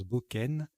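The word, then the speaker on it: bocain: Alors, ça ressemble à cocaïne, hein, mais on prononce Boken.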